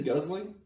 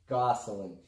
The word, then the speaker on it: Gosling: Did you say guzzling? Gosling.